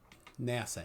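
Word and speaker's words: נשא: it is clear right here there it is NASA na sa pronunciation na sa so that's the key because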